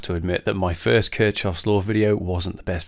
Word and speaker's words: Kirchhoff: You don't pronounce it Kirchhoff, you pronounce it Kirchhoff.